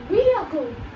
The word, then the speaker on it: vehicle: Is it vehicle or vehicle? Well, it is vehicle. So instead of saying he, you should say vehicle.